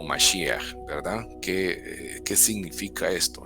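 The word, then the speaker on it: מָשִׁיחַ: La palabra Mashiach es la pronunciación en hebreo, y la palabra Mesías es la transliteración, es como se pronuncia traducido al español o fonéticamente al español, que sería Mesías.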